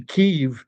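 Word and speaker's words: Kyiv: But if I do that, if I say Kiev, I have been corrected. It's pronounced Kev or Kev. I'm like, no, it isn't. That's the way they pronounce it in Ukrainian.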